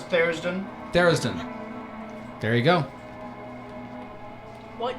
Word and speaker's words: Tharizdun: I'm going to mispronounce this name and Ian's going to correct me. Tharizdun? Oh, Yeah. no, it's Therisden.